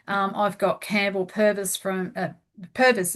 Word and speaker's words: Purvis: got Campbell Purvis from Purvis, isn't it? Is that how you pronounce it? Yes, that's Yes, correct.